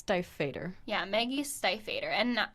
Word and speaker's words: Stiefvater: I think it's Stiefvater.